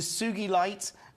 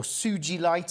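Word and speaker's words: Sugilite: And actually, the Sugi Light, or Suji Light, I think it is pronounced, named after the scientist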